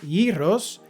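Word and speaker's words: γύρος: This gyros, or in their Greek pronunciation, yos, hit the right spot.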